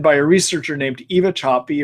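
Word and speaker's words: Sapi: a researcher named Eva choppy her last name is spelled s-a-p-i and about six years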